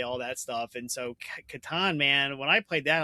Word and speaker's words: Catan: Well, how do you pronounce Klaus Teuber's game? The Settlers of Catan.